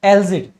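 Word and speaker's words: algae: कैसे याद रखेंगे, आपने एलजी देखा है, अब आप कहोगे एलजी क्या, जिसको एलगी हम बोलते हैं उसका दूसरा प्रोनाउंसिएशन एलजी भी होता है। सो आप चाहें तो इसको एलगी बोल सकते हैं, काई जो होता है, आप चाहें तो इसको एलजी बोल सकते हैं।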